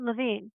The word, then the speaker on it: Levine: Victoria wrote this, and this is Jack Levine, or is it Levine? I have my own language. No, well, it depends on what part of the country you're in, I think. But he pronounced it Levine, Jack Levine.